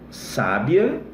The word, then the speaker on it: sábia: Olha lá, ó. Sábia, sabia, sabiá. Então a acentuação, ela é fundamental para você entender um termo, entender a pronúncia e daí extrair o significado, tá bom?